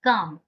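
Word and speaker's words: calm: ठीक है, यहाँ पे एल साइलेंट रहता है, तो इसे हम कहेंगे स्टे काम। एल साइलेंट है, ओके। एल का, एल को नहीं करना है, एल का उच्चारण हमें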